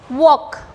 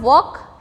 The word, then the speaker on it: walk: Next one here walk. Walk में क्या करना है हमको? Next word we have to take L as silent. So the word walk has L as silent.